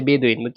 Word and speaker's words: বেদুইন: জলে আর স্থলে উভয় উভয়স্থলে মানে উভয় স্থানে বাস করে তাদেরকে বলা হয় বিদীন অথবা কি বাদে মানুষ মূলত উচ্চারণ হচ্ছে বেদুইন এটাকে আমরা বাংলা ভাষায়